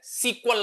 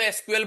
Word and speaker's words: SQL: लेकिन अगर मैं स्पेलिंग की बात करूं तो एस ई क्यू यू ए एल ऐसे बोला जाता था सीक्वल। लेकिन इसमें से इन्होंने साइलेंट कर दिया वोवेल्स को शायद जैसे ई को हटा दिया, यू को हटा दिया और ए को हटा दिया। तो अब इसको शॉर्टकट में क्या बोलते हैं? एसक्यूएल।